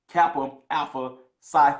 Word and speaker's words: Kappa Alpha Psi: Make sure I pronounce it, Kappa Alpha Psi Fraternity Association, right?